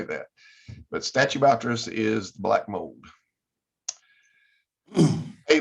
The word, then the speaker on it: Stachybotrys: I don't know how to pronounce that. The S word. The S word? Yeah. Stachybotrys. Stachybotrys.